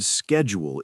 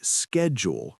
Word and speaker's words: schedule: That word schedule is tricky. In American English, we say schedule with a K sound.